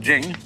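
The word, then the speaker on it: 經: And Jing, there is no apostrophe after the CH, so if there were, it would be pronounced Ching, but it's Jing, like a J.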